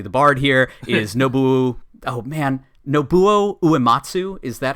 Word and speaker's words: Uematsu: And then the 4th party member, who's definitely the bard here, is Nobuo Uematsu. Is that how you guys pronounce it?